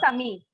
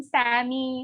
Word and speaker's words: Sami: His name is Yeah. Sami. That's Sami. That's Sami. Sami, right? Okay. And his friends call him Sammy or Sammy. Yeah. Yeah. Samir or Swami.